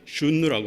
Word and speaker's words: 흉노: 흉노는 옛날 현지 유목민의 발음대로 하면 슌누라고 하는데 이는 천선족, 즉 태양의 아들이라는 뜻이라고 합니다.